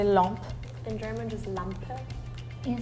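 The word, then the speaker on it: lampe: so those interesting Lump Lump I think it's like written same as German but in French we don't pronounce the e at the end so that's why it's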